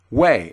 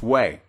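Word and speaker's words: οὐαί: used in the bible the word woe in the greek is pronounced way it's spelled o u a i o u a i and it's pronounced way and it's more than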